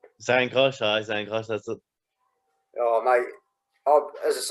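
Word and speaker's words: Zhankosh: Jankosh? Zankosh, that's it.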